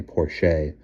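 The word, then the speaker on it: Porché: She pronounced it the French way. Porche.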